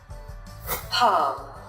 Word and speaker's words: palm: But the letter L is not pronounced in some cases, such as talk, palm.